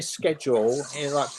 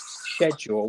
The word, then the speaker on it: schedule: So we pick up your mannerisms, and when you say schedule, like British English schedule with a soft like that, but more and more people over here are saying schedule, but that's the American pronunciation.